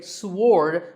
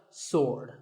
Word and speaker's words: sword: say it is Wednesday what about this word sword many people say sward but that is totally wrong it's just sword and here's one last